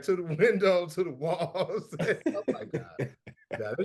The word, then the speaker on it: Walz: Walls.